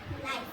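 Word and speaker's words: knife: अ नाइफ। अब देखो यहां पर नाइफ में भी साइलेंट वर्ड वाला है।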